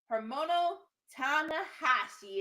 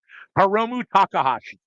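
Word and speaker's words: Hiromu Takahashi: Hermono Tahashi is in the building. Close enough. Heromu Takahashi.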